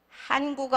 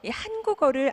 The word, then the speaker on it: 한국어: 성심성의껏 답변을 드리겠습니다 자 한국어 한번 발음해 보실래요 네 한이 약간 긴 발음이에요 그래서 한국어 이렇게 하시는 것보다는 한번 약간 눌러 주시는 것처럼 한번 해보실래요 네 이제 우리 격음